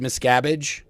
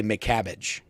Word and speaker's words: Miscavige: best one is that if you say David Miscavige or you say David Miscarriage, it'll do it. But if you say David Miscavige and you say his name right, AI will still say McCabbage.